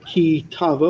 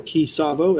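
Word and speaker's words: Ki Tavo: in a nutshell from kitavo or kisabo as jd pronounces it this week's hof toy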